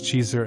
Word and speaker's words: geyser: The geyser, a word pronounced by the Icelanders Cheeser and meaning fury, rises majestically at its end.